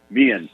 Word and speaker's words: Mehan: Mehan, as in me and you.